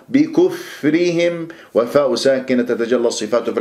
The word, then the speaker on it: بكفرهم: بكفرهم، كسرة الباء بكفرهم، لا تسحب ضمة الكاف إلى الفاء الساكنة وتنطق الفاء والشفاه مضمومة، بكف خطأ، بكف خطأ، بكفرهم، والفاء ساكنة تتجلى الصفات